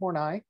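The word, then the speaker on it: Horney: carl young as well and then um karen hornai and that's how you pronounce her name hornai um she agreed with young about um individuals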